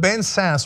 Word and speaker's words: Ben Sasse: my god oh that's so sad anyway but Ben Sasse from Nebraska and other Republican has opposed the